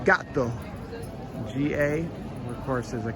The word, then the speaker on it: gatto: So the double consonant in Italian has a little bit more emphasis. Gatto, put a little bit more emphasis on that T to pronounce it properly, as opposed to gatto. So gatto would be one T, gatto would be two. It's a fraction of a second difference in pronunciation, but it makes a huge difference in the meaning of the word.